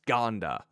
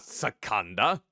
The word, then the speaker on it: Scanda: app on your phone scanda it's pronounced scanda I got to remember that scanda scanda scanda not Saka so it's two okay two beats try it for about